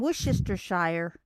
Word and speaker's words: Worcestershire: and this person says it's not shire like everybody says and i'm going that's how you say it right ah and they're they're going no when you when you're talking about a town you don't pronounce it as shire it's and i'm going